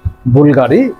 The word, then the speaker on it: Bvlgari: শুরুতেই যে অল্প একটু বলেছিলাম যে বুলগাড়ি এই বুলগাড়ির যে বি এর পরে ভি হলেও আমরা ইউ উচ্চারণ করি।